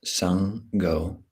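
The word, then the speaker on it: Saṅgho: So as you bring this mantra into the body, into awareness, see if you can yoke or conjoin, merge the two syllables, Saṅ-gho, with every in and out breath.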